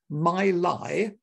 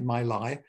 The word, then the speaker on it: Mi Li: written between 1766 and 1772 but the fifth my lie a chinese fairy tale that's spelled m-i-l-i my lie must have been written after the death in